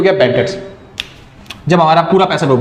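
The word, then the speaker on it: debts: तो आप लिखोगे बैड डेट्स, बी साइलेंट होता है इसलिए डेट्स बोलते हैं इसे, डेब्ट्स नहीं बोलते, डेट्स।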